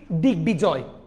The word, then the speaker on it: দিগ্বিজয়: তার মানে কি, আমরা যদি এরা দুইজনের লগে যদি বফলাটাকে দেখি উচ্চারণ করব, সন্ধিজাত শব্দে বফলায় বয়ের উচ্চারণ বজায় থাকবে। যেমন দিগ্বিজয়, এখানে দেখেন সন্ধি বিচ্ছেদ, দিক যুগ বিজয় হয়ে যাবে কি, দিগ্বিজয়, গ হয়ে যাবে।